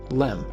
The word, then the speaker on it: LEM: Excursion module or just Lem eventually the word Excursion was dropped from the acronym but everyone still pronounced it the same Lem it was a long